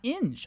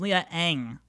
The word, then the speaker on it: Inge: Oh, it's pronounced Inge. Okay. The game had always pronounced it as Leah Ang.